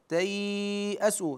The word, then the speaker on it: تياسوا: ولا تي ت اسوا هنا مد اللين تياسوا نمد بمقدار اربع حركات ولنا ايضا المد بمقدار ست حركات وكذلك في التي بعدها